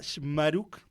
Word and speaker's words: Chmaruk: Shmaruk.